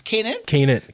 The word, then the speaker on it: Canaan: But we got the young gun, Canaan. How do we pronounce this? Canaan.